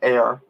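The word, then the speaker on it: Ayr: town in in um it's spelt a yr not a ir but there's a town literally called air in scotland which i've been to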